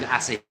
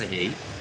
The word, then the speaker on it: Asahi: It's called Asahi. I had to ask some Japanese customers how to pronounce it correctly. Oh, really? Okay. It's Asahi.